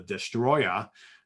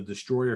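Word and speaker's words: Destoroyah: a creature called the destroyer you think they're called destroyer but the way it's spelled is d-e-s-t-o-r-o-y-a-h uh this is actually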